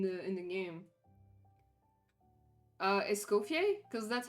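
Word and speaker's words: Escoffier: Uh, escopier because that's how you pronounce it in French, right? They add an R, bro. I mean, there is an R, but you don't pronounce it. Essier, that's how you pronounce it.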